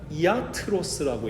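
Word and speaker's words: ἰατρός: 헬라어로는 이아트로스라고 읽거든요.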